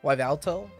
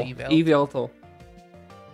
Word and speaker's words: Yveltal: Wyvalto. Did you say Wyvalto? How do you pronounce it? Yveltal? Yveltal? It's like evil. Yveltal.